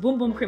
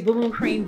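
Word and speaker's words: Bum Bum Cream: love boom boom cream and it's pronounced boom boom cream if you don't know that okay it's boom boom cream this is the tried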